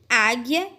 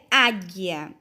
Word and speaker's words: águia: a primeira palavra é águia quando eu falo a palavra águia eu não consigo ouvir o som do só due ó águia então nós não vamos marcar um x porque o não é pronunciado guepardo a mesma coisa